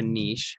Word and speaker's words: niche: where you push your niche eventually right but if you don't have a niche or a niche depending on how you say it we'll just put people